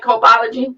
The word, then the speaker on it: Copology: Did I pronounce that right? Copology?